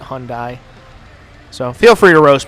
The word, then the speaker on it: Hyundai: I know it's technically pronounced Hyundai, but that doesn't sound right to me. I always pronounce it Hyundai.